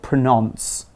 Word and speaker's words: pronounce: Because we don't say pronounce, you know? We say pronounce. Even though there's an O in it, we say pronounce. That is pronouncing it correctly. Another important thing about pronunciation